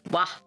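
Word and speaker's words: は: The W that you use in grammar is this one, which is technically a ha, but you pronounce it as wa.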